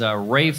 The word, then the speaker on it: Ralph: But Rafe Fine is spelled, I'll take the fine, you know, F-I-E-N-E-E-S, you know, the fancy French, leave out the... But the Rafe, when it's spelled Ralph, I mean, come on.